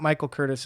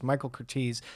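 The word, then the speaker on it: Michael Curtiz: By the way, I've been saying my guy's name wrong for the past few weeks. It's not Michael Curtis, it's Michael Curtis.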